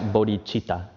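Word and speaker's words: bodhicitta: how we spell it in English but we pronounce it bodhichitta okay so we define bodhichitta I'm sorry actually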